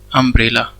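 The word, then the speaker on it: umbrella: ठीक है, आपको कंफ्यूज मत होना, लेकिन उसका जो प्रोनाउंसिएशन है अम्ब्रेला का, क्या लिखेंगे हम? अम्ब्रेला। तो यहाँ पे जो प्रोनाउंसिएशन में क्या आ रहा है? ए आ रहा है।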